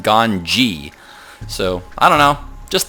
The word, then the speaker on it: GanZi: but it's actually pronounced Gan so I don't know just thought people might want to know that in case you cared to know that they actually don't have a z sound in Korean so uh yeah let's